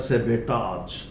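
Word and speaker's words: sabotage: वो बोला जाता है सेबेटाज, टाज, सेबेटाज। देखिए यहां पे टाज, सेबेटाज। ये ब्रिटिश एंड अमेरिकन दोनों प्रोनाउंसिएशन एक जैसा, सेबेटाज, और ये हिंदी में लिखा सबेटाज।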